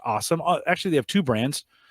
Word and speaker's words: Alxum: They pronounce it just awesome.